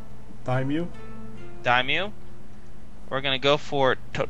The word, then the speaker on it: daimyo: Sorry, what's the pronunciation? Daimyo.